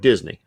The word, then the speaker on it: DSNI: of Deliver ServiceNow Institute, it spells out DSNI, which if you want to pronounce it, sounds like Disney.